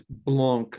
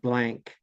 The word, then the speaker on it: blanc: and say to you, actually, it's blanc, not blank, or whatever.